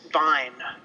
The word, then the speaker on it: Wein: It's Vine, Wein, not Vice.